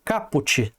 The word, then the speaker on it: caput: familiar Ou institucional pessoal o jeito certo de falar aqui ó é capot tá para você que que tá estudando aí que não sabe né eh o caput eu falei Cap né o jeito certo é cap teve época